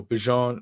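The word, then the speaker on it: Bijan: Oh, Bjon. Oh, like Dejon mustard.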